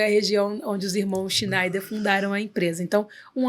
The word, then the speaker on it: Schneider: E aí, lá eles pronunciam Schneider. E eu acho isso o máximo. Que legal. Não é Schindler. Então, a gente não faz elevador.